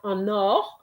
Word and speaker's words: en or: Donc, if somebody fait des affaires en or and is going to be en or, you're going to pronounce the EN, okay? And the NOR, what I'm saying is that you need to link between en and or.